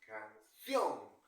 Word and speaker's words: canción: a ver con n podría ser la palabra canción verdad dónde tiene su mayor fuerza de voz canción Ah profesor lo tiene la última sílaba por lo tanto es aguda y como termina en